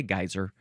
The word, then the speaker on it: geyser: So, I'm just going to say geyser because that's what I was brought up with when I was a child. My parents say, "You say geyser in this household. You don't say it the British way. You don't say it the Icelandic way. You say it the Midwest American way."